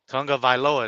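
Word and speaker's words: Tagovailoa: Tunga Vailoa. There you go. There you go. Because the AG makes a unga sound in the Hawaiian pronunciation, so Yeah. it's Tunga.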